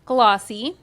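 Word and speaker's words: GLLAWC: Lakes African-American Writers Conference, GL L AWC, pronounced Glossy, of which Leah is the executive producer.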